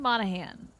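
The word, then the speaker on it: Monaghan: the whole word deal and also the g is silent okay so it's Cameron Monahan do the people pronounce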